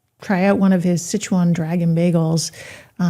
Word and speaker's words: Sichuan: I was calling it something else, but we'll just, Sichuan. But I like I learned things, and I really like learning how to pronounce things.